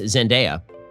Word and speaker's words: Zendaya: tom holland and uh i've been informed that it's pronounced zendaya and um honestly the